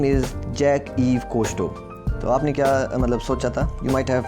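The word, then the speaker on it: Jacques-Yves Cousteau: problem we face today and the name is jack eve kosto you might have pronounced it wrong so let's say a bit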